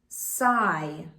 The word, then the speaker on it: sigh: As I move up and over the word, I will mark the H silent. Then I will mark the G silent. Finally, I will mark the vowel long. The word is sigh.